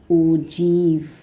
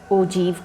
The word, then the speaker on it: ogive: It is written like this, but it is pronounced as ogive. Right? We write it here like this, but we pronounce it as ogive curve.